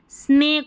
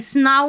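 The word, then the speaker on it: snow: एक ऐसे स्नेक हो गया।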